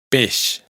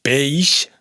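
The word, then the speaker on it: peix: Pesh, no es peish, sino pes.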